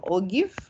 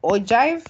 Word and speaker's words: ogive: So one will be a cumulative frequency, which will add up, and one will, so this will be an ogive or ogive, or whichever way you want to pronounce it.